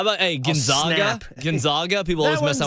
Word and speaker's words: Gonzaga: So, it is Gonzaga. That's why they call them the Zags to remind you how it is.